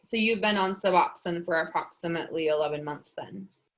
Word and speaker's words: Suboxone: Uh, Suboxone? Did I say it right? Yes. Okay. All right. So you've been on Suboxone for approximately 11 months then.